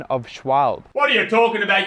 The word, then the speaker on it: Schwalbe: And can I just say on the pronunciation of Schwalbe? What are you talking about, you idiot? It's Schwabble. Schwabble.